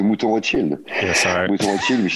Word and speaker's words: Mouton Rothschild: How do you pronounce it? Montan Rothschild? Yeah. I mean, the famous Chateau Mouton Rothschild.